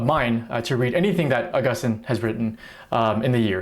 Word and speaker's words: Augustine: That's right, his name is pronounced Augustine, not Augustine.